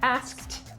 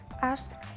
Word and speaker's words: asked: and yesterday yesterday I asked asked asked us and lately I have asked asked right so now verbs that end in a K the pronunciation the past it sounds like a T asked in the past